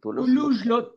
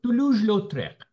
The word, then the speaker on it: Toulouse-Lautrec: Tolo, what is the pronunciation? Toulouse-Lautrec. টুলুজ-লৌত্রেক।